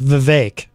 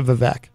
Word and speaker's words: Vivek: and by the way that is how you pronounce his name it's Vivek I only know that because I saw him